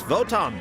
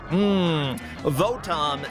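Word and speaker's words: Votoms: The lowest of the low vot and botm are pronounced the same in Japanese.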